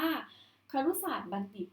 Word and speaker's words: ครุศาสตรบัณฑิต: ครุศาสตรบัณฑิต ได้ นะ คะ ที่ น่า สังเกต ว่า ใคร รู้ ศาสตร์ บัณฑิต เนี่ย ก็ จะ เป็น อีก หนึ่ง คำ ที่ ไม่ ออก เสียง เชื่อม นะ คะ อ่ะ กู บอก แล้ว ว่า ไม่ ใช่ ว่า ทุก คำ ที่ จะ ออก เสียง เชื่อม เสมอ ไป นะ คะ อ่ะ ต่อ ไป